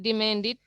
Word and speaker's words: demanded: All verbs ending with the sound t, when they take ed, it's going to be pronounced like id.